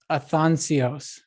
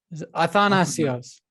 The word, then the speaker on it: Athanasios: And I want to pronounce it right. Athanasios. Athanasios.